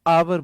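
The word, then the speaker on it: hour: चलो इसमें H silent होता है, एच के बाद ओ आए तो एच साइलेंट होता है, तो इसे हम आवर बोलते हैं, आवर।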